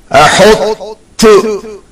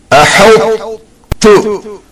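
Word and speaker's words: أحطت: The last word of the first line is pronounced without qalqalah, clacking sound on ta, and retaining the heavy sound of ta, mix it with ta.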